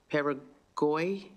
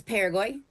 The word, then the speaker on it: Parago: up this last name peroy Rebecca hello thank you I'm sorry I mispronounced your last name can you pronounce it it's Parago Parago sorry you may begin